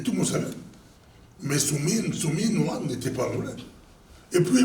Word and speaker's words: Suminwa: Moi, j'aimerais bien les gens, des traiteurs, les gens qui attaquent Judith Soumino. Maintenant, je prononce bien. Avant, je dis Soumino.